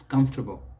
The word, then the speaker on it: comfortable: not do is this the stress is on the first syllable but you can imagine that oh it's not even there don't bring it out so don't say come come it's comfortable comfortable and then don't